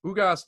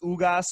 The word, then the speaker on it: Ugas: Ugas definitely is not a guy that's a catch-as-catch-can style boxer.